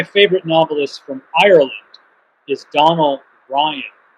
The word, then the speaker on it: Donal: And then one of my favorite novelists from Ireland is Donald Ryan. Ryan spelled like it sounds, Ryan, and Donald, Donal. And he's written a bunch